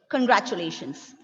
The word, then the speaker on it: congratulations: Ma'am, in congratulations, in which part we have to stress? Penultimate, second last.